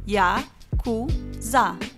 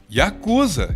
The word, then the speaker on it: Yakuza: 8, 9 e 3 se pronuncia Yakuza. Yakuza, e isso não é por acaso, foi daí que a máfia japonesa tirou seu nome.